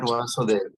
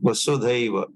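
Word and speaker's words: वसुधैव: Not Vasudeva, not Vasudeva. Vasudhaiva, Vasudhaiva Kutumbakam. Yeah. Sanskrit pronunciation correction.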